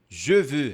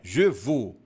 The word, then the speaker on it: je veux: Je veux. Repete comigo. Je veux. Je veux, que significa eu quero. Je veux, não é je vou e nem je vou, certo? É 2 biquinhos.